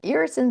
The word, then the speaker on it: irisin: irisin specifically attaches to receptors in the brain.